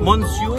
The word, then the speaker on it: monsieur: Monsieur? It's spelled monsieur. But you say monsieur. Ba't gumagano pa yung labyo? Monsieur. Parang mayroong halak dito na nakadikit. Parang umatras yung dila. Oo, parang umaatras ang dila mo.